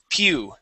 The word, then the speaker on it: pew: close here you'd said you said uh poo all right uh the word is p pew pew PE yep just like that Pew okay PE all right